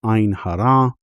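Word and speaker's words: עין הרע: against the evil eye, or as it is pronounced in Hebrew, Ein Hara.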